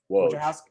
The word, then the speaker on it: Woj: Rappaport, from a Adrian, how do you even pronounce his last name? Woj.